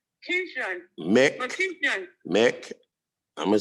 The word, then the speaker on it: McEachin: McEachin. I'm gonna sound it out. Wait a minute. That woman, Papa had it. I always had Papa his name. Okay, go ahead. Okay, Mick, like Mickey Mouse, Mick.